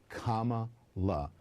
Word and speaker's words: Kamala: Kamala. Okay, so anyone that mispronounces that is a racist, according to them. Let's keep listening. Kamala. So easy. Democrats see racism in the GOP mispronunciation of her name.